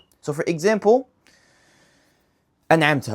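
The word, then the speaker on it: أَنْعَمْتَ: an'amta alayhim Notice how I pronounce the letter noon in an'amta as it should be pronounced and I left it as it is, as it's pronounced normally in Arabic.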